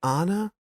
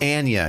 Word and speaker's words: Anya: Is it Anna or I think it's Anna? I think it's Anya. No, it's Anya. It's the weirdest pronunciation you can possibly think of. It's Anya Taylor-Joy.